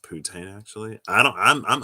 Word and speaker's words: poutine: don't know about that putane okay it's pronounced poutine actually i don't i'm